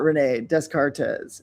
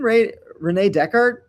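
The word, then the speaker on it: René Descartes: So I read multiple books by Renee Descartez and I was talking about Renee Descartez at a party and at a certain point this guy goes, "Do you mean Renee Decart?"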